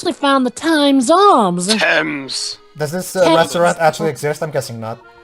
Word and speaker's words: Thames: I think I've heard of it, the Tom's Arms. Thames! Thames. God damn it, Jova! Hey, Americans, we pronounce it Thames.